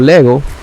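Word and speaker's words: λέγω: se comportan los verbos este verbo griego Lego tiene dos sílabas le y Go es importante decir que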